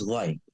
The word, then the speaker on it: LVX: And we actually pronounce the LVX as light, the Gnostic Church of Light.